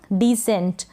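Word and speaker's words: descent: और शुरुआत में भी, इसलिए ये जो ई है ये छोटी ई के रूप में पढ़ा जा रहा है। डिसेंट। क्लियर हो गया। डिसेंट। और एन जो है आधे न के रूप में पढ़ा जा रहा है, आधे न का साउंड आ रहा है।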